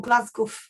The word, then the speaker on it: Glasgow: Equally, we see editors such as Jadwiga Harasowska in Glasgow, or Glasgow, as Poles pronounced it to rhyme with Krakow.